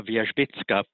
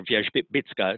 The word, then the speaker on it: Wierzbicka: And so you just look for Wierzbicka. It's spelled the way it's pronounced in Polish, but a little bit different in English.